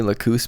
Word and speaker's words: Lacus: or somewhere else, but apparently Lakoose might be the Latin pronunciation, so maybe it's more technically correct. But man, it sounds jarring when you're used to hearing Lacus.